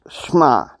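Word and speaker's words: שמע: it for you because some people some people mispronounce it uh it is shma and in hebrew the whole phrase of that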